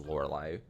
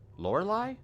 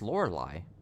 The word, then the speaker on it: Lorelei: I have to look at how to spell lorai lorai is such a stupid name I got